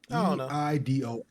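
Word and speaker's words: Eidos: Um, I don't I never knew how to pronounce this. Is it Idos or Idos? I do OS. Idos Montreal announces they're laying off 124 employees.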